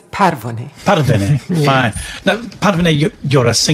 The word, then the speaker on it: Parvaneh: Just as you said, Parvaneh.